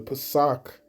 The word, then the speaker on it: Pesach: All right, I wanted to inform her that the time of the Passover, or the Pesach, as it's pronounced in the Hebrew, that this high holy day will be coming up on the 1st of April.